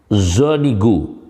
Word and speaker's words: Zuniga: Kebangsaan Meksiko, laki-lakinya bernama Zonigo. Kalau lengkapnya Albino Zonigo, Arabnya Albino Zuniga, bacanya Albino Zonigo.